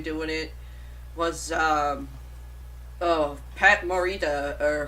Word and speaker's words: Pat Morita: the Jackie Chan doing it was um oh Pat Morita or how you say his name yeah you